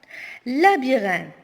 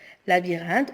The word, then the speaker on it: labyrinthe: Labyrinthe. Labyrinthe, on ne prononce pas le H et le E, donc la lettre muette se trouve à la fin du mot.